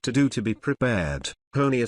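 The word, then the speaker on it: Honea: do to be prepared honia said into the cameras his comments seemed to have the desired effect in his third year as Sheriff honia rhymes with Tony has become something of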